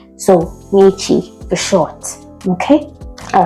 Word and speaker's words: Ni: All right, so for those people that don't know how to pronounce the name that are calling it, it is not ini, it's only ni. So ni for short.